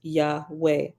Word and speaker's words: Yahweh: form the most revered Hebrew name for deity Yahweh pronounced Yahweh although you will usually see the tetragrammatin rendered